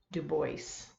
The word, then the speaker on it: Du Bois: Du Bois. Yes, you do pronounce it that way. I know it looks French, and it probably is French, but that's the way people pronounce that name. W.E.B. Du Bois, as you can see